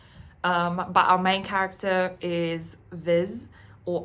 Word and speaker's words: Viz: But our main character is Viz, or I call him Fissy because the way it's spelled is like a fis, so like a fish in Afrikaans.